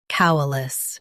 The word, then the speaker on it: coalesce: Coalesce. Both US and UK have the same pronunciation of this word. Stress cow first. Keep uh light. Then le clear.